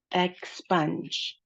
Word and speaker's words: expunge: expunge We have two syllables for that. The stress of the word is on spunge.